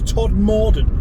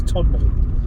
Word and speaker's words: Todmorden: often on the traffic report it is uh pronounced as todd morden which is incorrect because it's todd middle even though it's spelt top more there's a